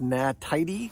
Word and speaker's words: Na Tiddy: All right, so as you can see, it's from a company, I think it's pronounced NaTiddy because they're talking about tidying up your garden.